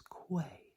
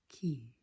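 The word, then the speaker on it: Qi: Ki Ki Ki now it looks like it would pre-pronounced as Quay that is understandable that is exactly how it's spelled would be Quay however it is pronounced key it's like a reminds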